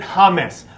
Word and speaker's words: James: I'm going to Colombia, and he spells his name James, but you pronounce it James.